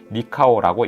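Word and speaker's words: νικάω: 개념을 볼 수 있습니다 이기다라는 단어의 헬라어 표현은 니카오라고 읽습니다 문자적으로 해석하면 정복하다 승리하다 이기다 또는 승리를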